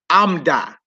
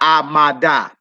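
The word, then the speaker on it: עמדה: You got Amda, meaning she stood, not Amada.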